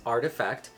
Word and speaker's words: RTFKT: so for example it says here artifact studios pronounced artifact is an ambitious project at the forefront of